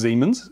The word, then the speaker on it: Siemens: this is a siemens i think it's pronounced siemens looks spelt siemens but it's pronounced siemens i i understand this